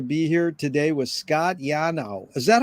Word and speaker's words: Yanow: It's an honor and a pleasure to be here today with Scott Yanow. Is that how you pronounce it, Scott? Yeah, no, it's fine. Yanow.